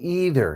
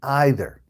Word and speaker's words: either: What about either and either? I've heard them both ways.